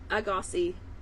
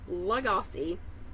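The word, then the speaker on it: Lagasse: purchased an emerald agosi I have always pronounced his name emerald agosi I looked it up today it's Emerald laosi poies Emerald not that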